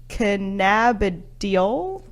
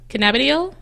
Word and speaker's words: cannabidiol: say THC because I'm not gonna try and pronounce that again and then the other one is CBD which aka cannabinol cannabidiol cannabidiol thank you that works we're gonna say CBD